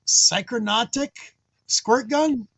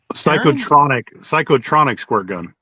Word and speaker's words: Psychotronic Squirt Gun: How do you say it? Psychronautic squirt gun? Psychotronic squirt gun. There you go.